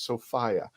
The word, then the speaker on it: Sophia: the correct way to say her name is Sophia I've been corrected and I've corrected my 10-year